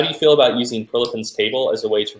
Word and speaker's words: Prilepin: So from Kin, how do you feel about using Prilepin's table as a way to regulate training volume as opposed to the RPE system?